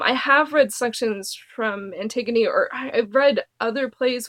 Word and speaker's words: Antigone: And so this has Antigone, which I used to pronounce Anagon when I was younger. Anagon. That's how it looks. Isn't it? Anagon? It's Antigone.